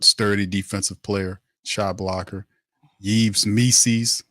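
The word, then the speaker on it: Yves Missi: defensive player shot blocker yees me rhymes with Reese's like DC says and he's a guy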